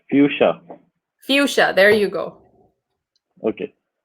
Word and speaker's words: Fuschia: And how do I pronounce Fuschia? It is Fuschia, right? It's Fuchsia. It's Fuchsia.